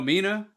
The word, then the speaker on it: Mina: with me and Mina did you know Mina rhymes with Tina I wish I could